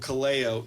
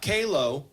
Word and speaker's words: Kaleo: with good old Kaleo, not Kalo.